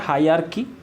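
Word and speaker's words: hierarchy: देखो हायरार्की, ठीक है, इसका प्रोनाउंसिएशन होता है हायरार्की, लेकिन इसका जो लिखा जाता है उसको लिखा जाता है हियरार्की।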